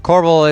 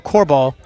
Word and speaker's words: Corbal: And I'm saying Corbel, folks, because the last name is spelled C-O-R-B-A-L. There's no second L, so I won't call him Corball.